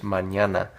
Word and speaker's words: mañana: Until tomorrow, which tomorrow is mañana. Now this is an ñ that we went over in my last video.